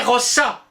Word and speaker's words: rosa: Les latins écrivaient rosa, mais prononçaient rossa.